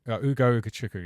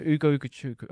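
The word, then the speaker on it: Ugo Ugochukwu: Ugo Ukachukwu. Yeah. Ugo Ukachukwu.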